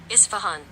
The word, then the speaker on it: Isfahan: Maysoon, this is how I have it pronounced. Isfahan.